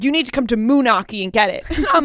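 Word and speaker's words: Moonachie: one of those right turns out munaki is in New Jersey and it's spelled m o o n a c h i that's Moi but the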